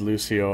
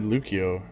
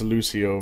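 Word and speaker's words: Lúcio: sick yeah I know it's I know it's pronounced Lucio I just actually I think I said I said lukio I think that's wrong too yeah I know it's I know it's Lucio but prepare to attack force a habit I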